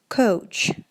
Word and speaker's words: coach: В первом случае у нас будет couch, как ouch, когда ударяетесь об что-то, говорите же, да, ouch. вот таким вот образом будет произноситься couch. И во втором случае у нас coach, coach, ouch, да, через о уже звук. Отлично.